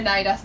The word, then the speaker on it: Naira: La Fran de The Naira's Books. ¿Así se pronuncia? Sin el D. Naira.